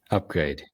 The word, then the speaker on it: UPGRD: Now, today we do have a special guest, William Lamb from the company do you just pronounce it Upgrade? Yes, Upgrade. Okay, because it's a UPGRD, to discuss optimizing human